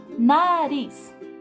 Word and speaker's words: nariz: Nariz. Nós damos ênfase a qual sílaba? Auriz, nariz.